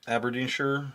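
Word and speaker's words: Aberdeenshire: I think they pronounce it sure. Aberdine sure.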